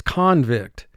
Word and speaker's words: convict: sounds convict now actually this word can be pronounced in one of two ways convict is a noun